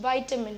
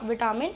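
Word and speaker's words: vitamin: वाइटामिन हमने पढ़ा होगा मतलब हमने जब छोटे थे हमने पढ़ा था मिनरल्स, न्यूट्रिएंट्स, है ना, उसे बोलते हैं वाइटामिन, नॉट विटामिन, इट्स वाइटामिन. सो the eighth sentence is pronunciation.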